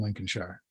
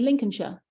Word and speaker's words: Lincolnshire: I've been to London once, but my ancestors came from Lincolnshire Oh, wow. Yeah. in 1641. Really? I love the way you say Lincolnshire. I like that. Because we say we're lazy. We say Lincolnshire.